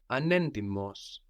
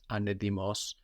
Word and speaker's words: ανέντιμος: Dishonest, we have anendimos. Anendimos. Ανέντιμος. So again, anendimos, that's spelled with a T. We have NT there. giving us an ND or D sound, anendimos, anedimos.